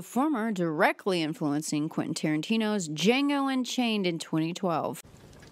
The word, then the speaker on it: Django: darker twists as in Django and The Great Silence, with the former directly influencing Quentin Tarantino's Django Unchained in 2012. The D is silent.